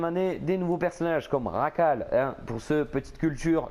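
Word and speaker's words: Jackal: des nouveaux personnages comme Racal. Hein, pour ceux, petite culture, le J se prononce re en espagnol. Racal, arrêtez de dire chacal, les gars, franchement, oh, vous faites pitié.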